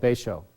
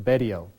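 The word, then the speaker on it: Betio: And in the bottom left corner is this little tiny island called Beisho, or Bedio. People pronounce it differently.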